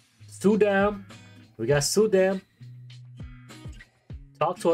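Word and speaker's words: Soodam: like around 54 W it's not sa dam is or Su Dam pronounce the O like Zoo oh Zam oh sudam not Z hey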